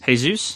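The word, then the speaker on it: Jesús: kidding me what dude it's hey Suz hey Zeus you don't see Jesus so anyway it just depends on him okay pronounced his you sighs nah hey sue sighs really would you say when you see the word as we save Jesus do you save Jesus all the time I mean sometimes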